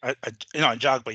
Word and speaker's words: Ajagba: Ajagba.